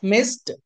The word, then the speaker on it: missed: ఇలా whenever we find sa sound at the end of any regular verb, then the ed or d or ied must be pronounced like ta sound. Miss, missed.